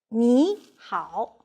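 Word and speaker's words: 你好: It can be recorded with two Chinese characters pronounced as 你好.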